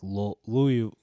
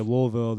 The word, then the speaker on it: Louisville: a mixture of like Louisville. But I won't stress the Louis. No. But I feel that if I just say Louisville, they're not gonna even know what I'm talking about.